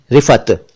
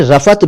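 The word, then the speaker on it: رفعت: अगर इसको अरबी एतबार से पढ़ें, अरबी स्टाइल में पढ़ें, या इसकी स्पेलिंग्स पर, उर्दू स्पेलिंग्स पर तवज्जो दें तो ये रिफात है, रिफात। लेकिन जल्दी में इसे भी रिफत कह दिया जाता है, रिफत।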